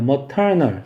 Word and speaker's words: maternal: maternal 터에 강제 있어요.